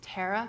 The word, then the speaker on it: Tara: Well, I have to stop you down and say it's Tara, because Joss would hurt me if I didn't.